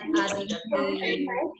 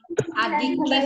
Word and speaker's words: adiktif: Ya, narkoba adalah obat yang bernama narkotika, psikotropika, dan zat adiktif. Adiktif bukan aktif ya sayang. Adiktif. Bacanya jangan cepet-cepet ya.